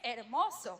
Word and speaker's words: hermoso: For example, someone of you wrote, México es hermoso. México es hermoso. Mexico es hermoso, because then you would be wrong. México es hermoso. Even though it's hermoso, you don't pronounce hermoso. The H.